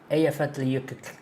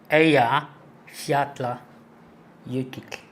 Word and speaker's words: Eyjafjallajökull: O LL no final é tipo Eyjafjallajökull. É difícil, velho, falar. Eu consegui acostumar. Tá aqui, ó. Aqui, ó. Eyjafjallajökull. Pensa no clique. Quando você fala a palavra clique. Mas fala só o início. Clique. É só o clique. Esse é o LL ali.